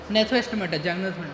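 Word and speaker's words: Gnathostomata: फिर इसके कॉर्डेटा तो बिल्कुल सब फाइलम क्या होते इसका वर्टब्रेटा यस नेथोस्टमेटा नेथो बोलते हैं वहां पे जी हां जी साइलेंट होती है वहां पे ठीक है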